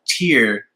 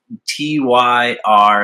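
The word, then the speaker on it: Týr: They're a band from Denmark, and I pronounce their name Tyr usually, but it's pronounced Tyr, and there's like a little accent on the Y, so I don't know.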